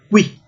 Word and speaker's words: qui: som F, filósofos, qui, todas as letras são pronunciadas, né? Esse U depois do Q é pronunciado, qui.